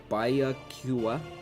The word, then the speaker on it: Byakuya: I don't know how to pronounce it properly. It's Byakuya.